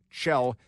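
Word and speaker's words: Chell: It's spelled Shell, C H E L L.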